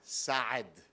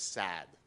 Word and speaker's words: Saad: It's GAD, it's a Hebrew name, and SAAD, it's a guttural ayin. But of course, typically people who don't speak Arabic or Hebrew, you just extend the A, it becomes SAAD.